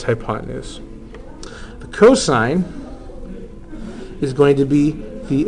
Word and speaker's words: cos: this is not pronounced C do not say C this is ignorant say cosine even when you see only three letters it's still pronounced cosine we will say s